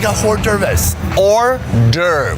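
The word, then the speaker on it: hors d'oeuvres: that like a wh deris or der is it singular there is an S but the S is silent you went to French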